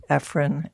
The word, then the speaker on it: Ephron: Depends on my mood. Say it for us. Ephrin, Ephron. Ephron. Okay. Depends on who I'm talking to.